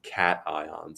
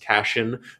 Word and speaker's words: cation: these positively charged ions cat ions it looks like it's pronounced cashen but it is cat ion it comes from the